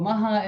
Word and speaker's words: Maha: and by the way in Polish the age is actually very loud so I can say it it's an easy letter like I I lived for for 12 years in Paris nobody could pronounce my name but now I live in the south of France right on the Mediterranean and so there's Spanish and Italian influences and people can pronounce the age so yeah so Maha